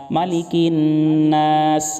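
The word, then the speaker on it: مَلِكِ النَّاسِ: এখানে অনেকেই মা টান দেয়, টান হবে না। মালিকিন গুন্না হবে, টানও হবে। মালিকিন নাস, মালিকিন নাস, ইলাহিন নাস।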